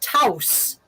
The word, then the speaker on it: Taos: that is that is pronounced taus and it's house and is and it has always been spelled t-a-o-s you know i mean in